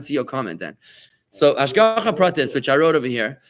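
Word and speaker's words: השגחה פרטית: Hashgacha pratis. Hashgacha. I'm going to spell it for you so you can write it down if you want to. Hashgacha. It's 2 words. Hash. Hash. Goacha. Hashgocha. Protis. Protis.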